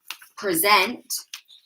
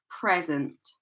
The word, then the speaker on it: present: So rather than it being present, which would be a verb, present, we place the stress on the first syllable, so it sounds like present, present, present, present.